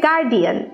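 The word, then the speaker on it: guardian: হ্যাঁ, অথচ দেখুন আমাদের school কলেজগুলোতে আই এম not offending anyone, but আমাদের টিচাররাও গার্জিয়ান শব্দটা বলতো, গার্জিয়ান শব্দটা ভুল, উচ্চারণ হবে গার্ডিয়ান।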